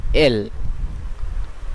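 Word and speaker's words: elle: দ্বিতীয় নিয়মটি হলো যদি শব্দের শেষে কখনো ভাওয়েল থাকে। এখানে নিশ্চয়ই আপনারা দেখতে পাচ্ছেন এল, এল, এল। এর উচ্চারণটি ইংলিশের এল অথবা বাংলার এল এর মতো। এইখানে শেষের ভাওয়েলটি ও উচ্চারিত হচ্ছে না, বরং ও এল এল এতটুকুই উচ্চারিত হচ্ছে, যার অর্থ সে।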